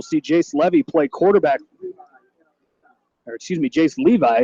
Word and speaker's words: Jace Levy: Jace Levi is how they pronounce it.